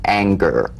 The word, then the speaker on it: anger: For instance, this is the difference between the soft G in singer and the hard G in anger, right? For instance, a singer sings, but an anger doesn't ang, right? So the at the end of that word is meaningless in terms of the whole word. That has a hard G.